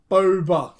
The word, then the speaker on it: Boba: I must remember, like soda, Boba, like soda.